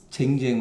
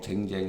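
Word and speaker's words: 丁丁: 거기 시에 이르기를 벌목 요거는 발음이 쟁쟁 으로 읽어야 돼요 정정으로 읽으면 안 되고 예 벌목 쟁쟁 이언을 예 이거는 의성어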